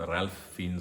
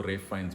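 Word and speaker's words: Ralph Fiennes: was working रेफ फाइंस उनका Indian में पढ़ो तो उनका नाम राल्फ फीनस होता है बट वो खुद को रेप फाइंस बुलाते हैं वो एल साइलेंट रखते हैं ही इज द वन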